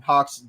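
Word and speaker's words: Gauxx: Taker j-e-r-t-a-k-r and then Hawks g-a-u-xx silent G pronouncing an H double X and entertainment spelled correctly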